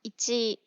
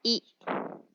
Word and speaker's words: 一: Nó có thể được đọc là "ichi", "i tsu" hoặc "hito."